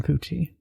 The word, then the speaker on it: Fucci: the next day 14-year-old Aiden fui is so I'm going to pronounce it that's how you pronounce it Aiden fuchi fuchi or fuchi fi fuchi fuchi he was